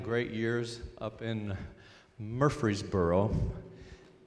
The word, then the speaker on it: Murfreesboro: It's a delight to be back in North Carolina, having spent 9 great years up in Murfreesboro. They pronounce it Muffsboro.